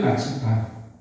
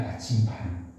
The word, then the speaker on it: 나침반: 나침판. 우리가 나침판 하지만 원래는 나침반입니다. 나침반. 좀 이렇게 살짝 발음을 해야 돼요. 나침판 그러지 말고 나침반.